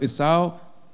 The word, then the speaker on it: Esau: So Esau, that's how you pronounce it in English.